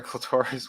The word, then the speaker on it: clitoris: Does her clitoris work? It rhymes with Dolores.